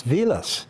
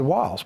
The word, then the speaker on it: Vilas: lot of the individuals my name is German it's Vilas yes not while said veal us but when they when they got when they got to America people looked at the spelling because Germans pronounced W as a V right all right and so the Americans speak in American said they said walls but the name is Vilas and we know names